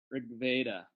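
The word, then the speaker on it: Ṛgveda: was saying rig Rigveda that's an anglicisation right it's not actually rig veda it's written Veda so again if if I did a triangle one vertex is herb beta one is rig veda and one is rube beta it's in the middle of all three Rig Veda again don't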